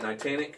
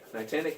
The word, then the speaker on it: Niantic: But also, was it Niantic? Niantic, is that how you say it?